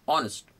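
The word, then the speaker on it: honest: शी डज से it properly इ से से ऑनेस्ट nothing will happen hard working right now hard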